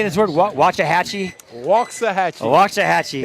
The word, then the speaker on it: Waxahachie: Waxahachie. Waxahachie. It's spelled wax, but we say walks.